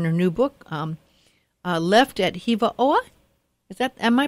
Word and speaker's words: Hiva Oa: her in her new book um left at Hiva OA is that my pronouncing it right yeah Eva aw and and it's an amazing story but it's